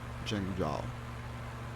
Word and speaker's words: Zhengzhou: I think that's how it's pronounced, should be pronounced like that, Zhengzhou.